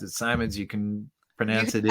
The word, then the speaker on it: Simonds: How can people get in touch with you if they want to know more about Gary Simonds, Death's Pale Flag, your new book coming out?